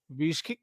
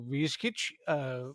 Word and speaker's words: Viskic: I'm talking today with Viskic or Viskic, depending on how she wants it to be pronounced.